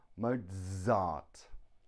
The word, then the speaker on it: Mozart: we have sila phone zebra Mozart it's the Z sound cool two reasons why